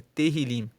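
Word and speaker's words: Tehilim: Para o povo israelita, o nome do livro de Salmos é Terrilim. Lá para o povo judeu, o livro de Salmos se chama Terrilim, que se escreve T E H I L I M.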